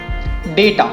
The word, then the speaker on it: data: It's called data. Data. The correct pronunciation is data.